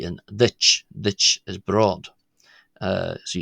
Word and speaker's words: duit: uh than it is to the English cha you know as in cheese or church it's ditch it's more about where uh I'll probably cover this in another video.